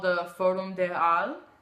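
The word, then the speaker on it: Halles: called the forum de al spelled like hollis but it's only all because apparently in french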